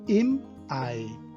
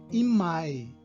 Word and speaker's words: im Ei: Então veja o soquinho antes de cada vogal, im Ei, pronunciado im Ei, e não imai. Então veja, se acontecer de eu juntar imai, vai acabar virando em maio, imai.